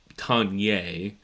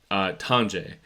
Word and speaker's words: Tonje: I think in Scandinavian languages it's Tonje or Tonwe, perhaps. But this is America. We're going to pronounce it Americanized. It's going to be Tonje.